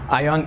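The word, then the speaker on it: AION: with a for ION ion is an offshoot of GAC and yes it is pronounced ion so that a is there for no other reason than to come on top of the list ion is relatively new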